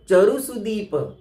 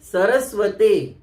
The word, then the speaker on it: चरु सुदीप: कई, तो चरु सुदीप इसके स्थान पर लोग बोलते हैं सरस्वते। इसमें सरस्वते या सरस्वती शब्द नहीं है, सरस्वती नहीं है, चरु सुदीप है। च से चम्मच, चरु सुदीप, तो शुद्ध उच्चारण करना चाहिए।